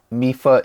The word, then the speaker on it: Mifa: First word or first syllable in Mifa is me, from Xiaomi.